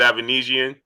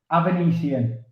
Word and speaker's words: Avanesyan: So you're the manager, obviously, of David Avanesyan. And just for the people that may not be able to pronounce his name, how do you pronounce David's name? Avanesyan.